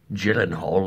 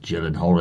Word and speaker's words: Gyllenhaal: I'm pretty sure he even knew that it was pronounced Gyllenhaal and not Gyllenhaal, and yet he still did it.